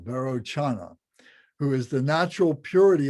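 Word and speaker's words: Vairocana: Varanchana, so that C, Varochana, is like a hard C. It's like a CH, Chana, Varochana, who is the natural purity of consciousness of the expanse of phenomenal reality.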